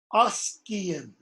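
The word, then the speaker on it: ascian: think only one or two exceptions, and they're given here. Askian, ask. Askian, okay? Everywhere else, it's the sh sound. And one of the reasons that's different is because you have a break in syllables. Askian, okay?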